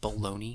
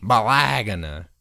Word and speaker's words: Bologna: From Bologna. It's pronounced Bologna. Bologna.